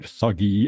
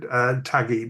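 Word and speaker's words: thuggee: got the pronunciation right, thuggy in the 19th century in India. That is correct. In the English version, the Indian called it taggy.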